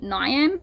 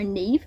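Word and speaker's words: Niamh: Also, I realized if I was calling her Nyam, it's Ne. It's one of those names that doesn't look like it's pronounced. So, Neve and I'm like that is Nam.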